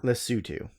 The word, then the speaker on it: Lesotho: Madagascar Botswana South Africa Lesotho Lesotho Lesotho it's not spelled like that but it's pronounced and the the other